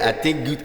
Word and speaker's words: Atinguido: Je prononce bien? Oui, Atinguido.